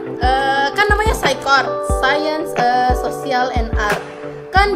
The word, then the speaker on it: Scicort: Jadi penyebutan yang benar itu adalah Saikort, bukan Saikort.